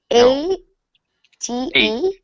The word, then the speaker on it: ate: A t e ate. Ate. Eight. Okay. Sounds exactly like Sounds exactly like the in pronunciation Russia. Sounds exactly like the number eight.